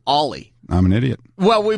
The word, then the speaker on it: Oli: funny you should say that I called him oie Thompson because that's how his name is spelled o l y Thompson all night on